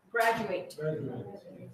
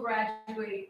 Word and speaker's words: graduate: Okay, this one only changes in pronunciation. Okay, the verb, graduate, right? I graduated last year. I will graduate in 2 years.